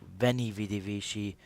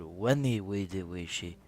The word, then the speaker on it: Veni, vidi, vici: few of my subscribers i've been pronouncing um the title of my campaign wrong i was called it benny vidi vichy but then i found out that it's called wendy we did she if i'm if i'm